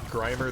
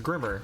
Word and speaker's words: Grimer: 36 had this happened thought grimer the Pokemon was pronounced Grimmer and I was like dude it's a play on Grime it's more than a